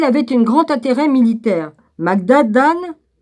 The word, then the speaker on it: Magadan: Magadan, oui c'est comme ça que ça se prononce, pourrait être le même